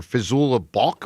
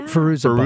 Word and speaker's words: Fairuza Balk: see that actress anymore, Fizula Balk or Yeah, whatever. Fairuza Balk. Fairuza Balk. How do you say her name? Fairuza.